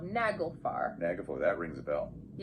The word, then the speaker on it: Naglfar: And correct pronunciation as well. Naglfar.